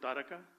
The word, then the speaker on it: Taraka: Taraka, we call it Taraka. We pronounce it Taraka.